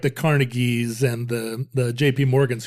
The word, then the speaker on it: Carnegie: do you remember this oh carneg you're supposed to say carnegi yeah well I I